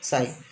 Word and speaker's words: psi: It is that psi, psi. Okay, we pronounce it as the psi.